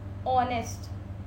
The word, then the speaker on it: honest: vowel, for example, R, honest, so you will always put an before that because H is silent in these words and it is starting with the sound of a vowel.